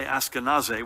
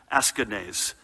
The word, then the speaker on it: Askanese: remember west orange's melvin i was going to say ask a nasa which is the pronunciation i'm used to but a family member correct me askanese melvin askanese who was